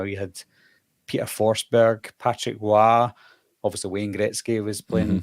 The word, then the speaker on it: Roy: So you had it's pronounced Roy if you want to be American, the goalie for the Avalanche Patrick back Roy. in the day. I thought it was Patrick Roy. Is it not French?